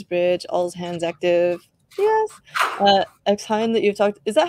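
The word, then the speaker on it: xHain: X-Hein that you've talked, is that how you say it? X-Hein or? Yeah, X-Hein.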